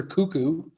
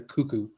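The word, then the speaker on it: Koekkoek: bring in uh one little underrated defenseman slater cuckoo name of the century here and it's spelt very weird i don't know if you've ever heard of heard of him k-o-e-k-k-o-e-k slater cuckoo he's kind of one of those analytical darlings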